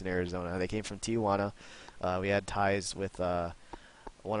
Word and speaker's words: Tijuana: And for the record, I had the hardest time pronouncing the name Tijuana, because like I want to put an A in there, like T-I-A, and then Juana, and then I got